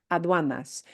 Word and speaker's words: aduanas: And that UA diphthong is a tough one for English speakers. Ua. It winds up being like a W, yeah? And you did that really well. Aduanas.